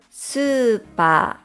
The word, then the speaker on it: スーパー: Super.